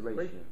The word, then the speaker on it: ratio: So that's the ratio. Yeah. Ratio. Ratio. R-A-T-I-O. Yeah, like radio, but with a T.